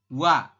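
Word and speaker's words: 와: Kemudian yang ini, kalau ini kan jelas ya, vokal O ditambah dengan vokal A, maka kita membacanya adalah wa. Oke? Bisa dipahami ya. Jadi kalau misalkan ada gabungan seperti ini, O dengan A, maka dibacanya adalah wa.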